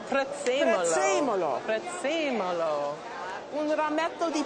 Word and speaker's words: prezzemolo: Prezzemolo. Prezzemolo.